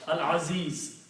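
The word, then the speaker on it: العزيز: Al-Aziz, lam is pronounced, means Ain is It's not making any difference.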